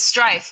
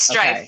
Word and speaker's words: Striph: I thought you were going to pronounce your last name because I didn't want to butcher it. So, it's Striph. I'll say that for you. It's Striph. Okay. Striph.